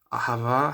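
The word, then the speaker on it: אהבה: Ahava has that H in there, you hear the he. So if people are speaking quickly, they might say ahava, where the H is sort of swallowed, it's not pronounced.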